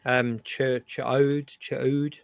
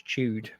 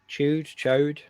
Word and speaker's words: Ch'od: I can never say it correctly. Ch'od, but basically CH''OD, I think it is. I always read it as chewed, but I think that's